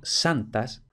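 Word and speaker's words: sanctas: Y luego santas, que está escrito con NCT, pero que hemos de suponer que la C no se pronunciaba. Se escribía porque, bueno, era una palabra tan relacionada con la iglesia, de gente que supuestamente sabía latín, etc. Y quien sabía latín sabía que sanctus se escribe con C. Entonces en español también escribirían esta C, pero hemos de suponer que no se pronunciaba ya.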